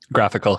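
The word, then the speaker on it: GraphiQL: about like graphical I don't know how to pronounce that graphical yep yes graphical tool that you can explore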